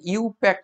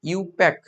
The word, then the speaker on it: IUPAC: উনারা হচ্ছে তৈরি করেন তোমরা এটা যখন উচ্চারণ করবে ইউপ্যাক বলবে ইউপ্যাক ইউ প্যাক বলবে এরকম